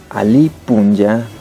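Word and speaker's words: alli punlla: Eso, traducido al idioma quichua, buen día es Ali Punya, o sea, buen es Ali y Punya de día, ¿sí? ¿Y cómo se escribe?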